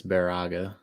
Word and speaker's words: Baraga: conditions likely hi Dylan someone corrected me it's Baraga I don't get to the up often but thank you yeah if we don't pronounce something correctly in the up or in